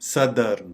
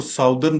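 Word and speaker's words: southern: बताएंगे तो हम कहेंगे सदर्न, सदर्न। आमतौर पे इसको साउदर्न पढ़ा जाता है, जो कि बिल्कुल गलत है। ये इसकी करेक्ट प्रोनाउंसिएशन है सदर्न, सदर्न।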